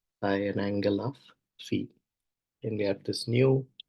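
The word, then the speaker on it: phi: this angle Fe okay I think it's pronounced Fe not Theta we'll use Theta elsewhere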